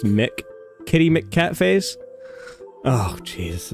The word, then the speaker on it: MC: MC is pronounced Mick.